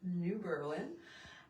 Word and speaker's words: New Berlin: And yes, in Wisconsin, we do pronounce it New Berlin.